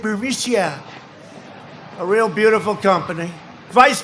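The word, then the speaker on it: Burisma: executives so this uh bureaucia bermusia they say pronounce it burmesia a real beautiful company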